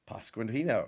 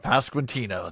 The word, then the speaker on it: Pasquantino: Uh I I cannot pronounce this man's name. Will you give it a shot? Pascino. Pasquantino.